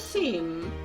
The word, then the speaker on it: Seam: The name is Seam. Pronounced Sean. Oh, sorry, Sean.